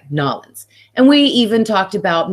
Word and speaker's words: New Orleans: time there we loved New Orleans and excuse me I'm not saying it right nollans and we even talked